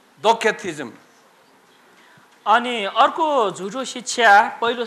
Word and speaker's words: Docetism: It sounds like a K. Docetism.